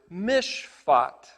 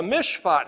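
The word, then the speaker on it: משפט: Well, the notion of the correct application of the Torah instructions is translated in Hebrew as the word mishpat. It's spelled mem, shin, pei, tet, and the word shin, pei, tet is the word for judge.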